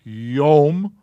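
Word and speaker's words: יום: a man mam sophie an o sound with the yud it's yum and that means day i bet you're going to see yom a lot yeah i just bet you uh going to page 17.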